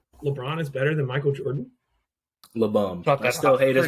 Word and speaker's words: Jordan: It's Jordan, but it's pronounced Jordan. Don't ask me why.